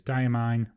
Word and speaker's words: Diamine: the medium nib the ink i see is diamine i've been told that's how you should pronounce it so i'm going to try and